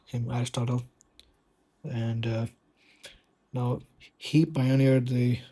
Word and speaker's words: Aristotle: Some say Aristotle was actually pronounced as Aristotele. So this is by some experts who in Greek linguistics or something. But let's just call him Aristotle.